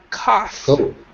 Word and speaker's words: cough: though is pronounced and it's an F sound cough cough cough cough the